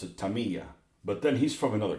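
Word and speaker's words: Tamiya: uh Taya and it's wrong but we always pronounce it Tamaya and I'm now gotten out of the habit of calling it that you know my dad my dad always pronounced it Tamia but then he's from another country and and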